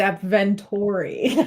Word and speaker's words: AppVentory: It's when people mispronounce our brand. It's AppVentory.